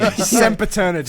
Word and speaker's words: Sempiternity: It's pronounced Furity. Think simp and eternity. Sempiternity.